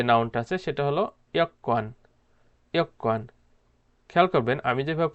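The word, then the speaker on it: 여권: ইয়ক্কান, খেয়াল করবেন আমি যেভাবে প্রোনাউন্সিয়েশন করছি আপনারা ঠিক সেমভাবে প্রোনাউন্সিয়েশনটা করবেন। এখানে ইয়গওয়ান উচ্চারণ হবে না, এখানে উচ্চারণ করতে হবে ইয়ক্কান।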